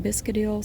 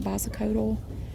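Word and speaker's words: Bisacodyl: Some pronounced it Biscadil, some called it Bosicodal.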